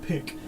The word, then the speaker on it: PIC: not the psa is you just pronounce it pick so we have the